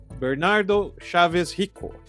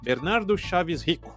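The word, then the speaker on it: Bernardo Chávez Rico: by the man himself Bernardo Chavez hio or should I say his name correctly Bernardo shavis hi that's where the BC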